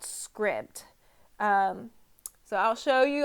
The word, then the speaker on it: Scribd: books and I recently discovered this app called Script um so I'll show you on my phone